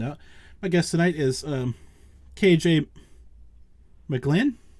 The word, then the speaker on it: KJ McGlinn: My guest tonight is KJ McGlinn. Did I say that right? Yes, sir. Yep, you sure did.